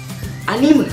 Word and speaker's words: anime: kita mulai dari awal anime dibacanya bukan Anim yang bacanya Anim itu Pergilah yang nonton video ini itu salah besar ya Meme aja lu baca mem apalagi anime lu baca Anim aduh salah pergi-pergi aja harus dibaca anime adalah animasi khas Jepang